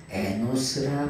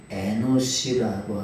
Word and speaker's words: אֱנוֹשׁ: 그런데 이 에노스라고 하는 말은 에노스라고 하는 말은 정확하게 말하면은 에노시라고 하는 발음이 에노시.